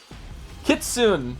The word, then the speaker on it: Kitsune: Kitsune.